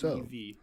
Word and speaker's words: Liev: The word is Liev, Lyev.